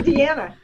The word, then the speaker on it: Deanna: Oh, Dina, I'm Deanna. Hi, Dina. Hi, I get called that all the time.